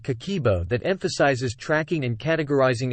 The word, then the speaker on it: Kakeibo: What exactly is Kakeibo? It translates to household financial ledger and is pronounced Kakeibo.